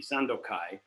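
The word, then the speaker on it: Sandōkai: text with the same name kanton ki or pronounced in japanese would be sandokai which is a taoist text from 600 years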